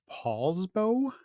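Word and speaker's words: Poulsbo: I read that you're in a town called Paulsbo how do you pronounce it pronounced it right yes yes it's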